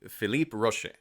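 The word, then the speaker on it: Philippe Roaché: So, at the wreckage, we also meet Phipe Rosh. Take two on that French name. Everyone calls him Roach. I'm trying to I'm trying to pronounce his name the way he pronounces it, but I suck at French accents.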